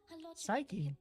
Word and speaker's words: Psyche: Psyche. That's how you pronounce it.